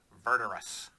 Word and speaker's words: Verdurous: Thank you, wizards, for hard to pronounce Verdurous. It's almost like murderous. It's almost like verdant.